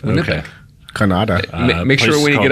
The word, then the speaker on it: Winnipeg: be in winnipeg um it's pronounced winnipeg is it yeah it's winnipeg make sure when you